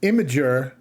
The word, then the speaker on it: Imgur: out there so let's go here this is imager Doc and that's Imgur I know that's how you pronounce it because I asked Google this is